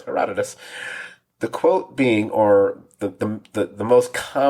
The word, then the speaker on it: Herodotus: sure it wasn't it's not herodotus no it's herodotus the quote being or the the most commonly